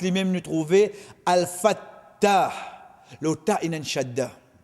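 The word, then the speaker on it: الفتاح: qui est dans l'iman, comme au Getli, c'est Al-Fattah. Al-Fattah. Nous vous trouve la lettre ta, quand nous veut dire nous trouver, veut dire qu'on nous peut prononcer lui-même nous trouver Al-Fattah.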